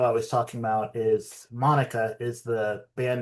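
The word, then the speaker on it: Maneka: He pronounces it Monica.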